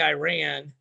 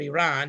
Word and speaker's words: Iran: with nike but usa iran or iran depending on how you say it and oklahoma state